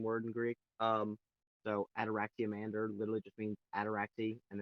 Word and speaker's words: Ataraxiamander: Uh, like like in other words, it's pronounced Adoractander. So that one you don't have adoractia. That's literally the spelling we use which is but you just pronounce it as one word.